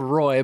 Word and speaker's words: Roy: It's spelled Roy, but it's pronounced Roy because it's French.